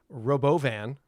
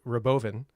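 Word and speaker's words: Robovan: Tesla dropping their uh, Robo Van. Did you hear how he pronounced that? The Robboan. Not Robo Van.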